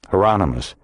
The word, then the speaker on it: Hieronymus: How Um how you say that? Hieronymus. Rhymes with anonymous.